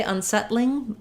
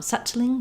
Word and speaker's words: unsettling: settling yeah there um you can say unsettling suchling but that sounds more british so in settling it's like the word saddle where we have the flap um so not a